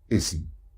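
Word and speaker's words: اسم: Now when alif comes without a hamza in the beginning of a word, it is pronounced as I. So we say here ism, a name.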